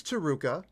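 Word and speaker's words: Taruca: who Tua is um so his name is taruka and he lives in the great city of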